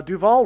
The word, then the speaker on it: Duval: Uh Duval rhymes with Hall.